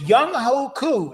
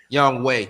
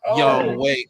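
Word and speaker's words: Younghoe: Uh was it Young Hoku is actually the name. Young Way.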